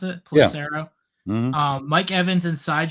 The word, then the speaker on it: Pelissero: It is Tom Pelissero, I think is how you pronounce it. Pelissero.